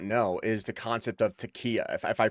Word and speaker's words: taqiyya: No, and I think you bring up something that most Americans don't know is the concept of taqiyya, if I pronounce that correctly, right?